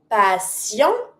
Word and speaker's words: patient: patient Don't pronounce the t. It's muted at the end.